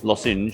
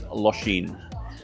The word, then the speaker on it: Lošinj: Lshin itself a lot of people pronounce it as Los but it's Lshin.